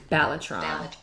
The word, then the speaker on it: balatron: so this one is batron I hope I'm pronouncing it correct let's make sure come on Rebecca batron batron batron it is of is from the Latin word